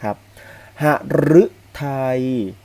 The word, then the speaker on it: หฤทัย: แบบ นี้ หมาย ถึง ร่า เริง นะ ครับ หฤทัย หฤทัย ก็ ไม่ ถึง หัว ใจ นะ ครับ